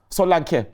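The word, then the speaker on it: Saliba: the slightest what he say his name was Solan that's how you actually say his name Solan Solan yeah cuz everybody says Salan Salan everybody says Deli Ali but it's not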